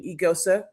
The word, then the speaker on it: Eghosa: Everyone knows how to say my name, Eigosa, first and foremost, and then we can kind of go from there.